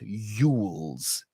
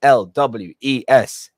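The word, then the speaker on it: Cary Elwes: and by the way it's elvis not yules stop pronouncing i'm not seeing anyone here does it but to people listening in the big world out there just please stop pronouncing his name is carrie yules it is e l w e s l wes not yules there's no yules he's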